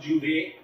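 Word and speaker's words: J'ouvert: In Trinidad, every year, the first session of the street mass or masquerade is the Juve, pronounced Juve, or Old Mass.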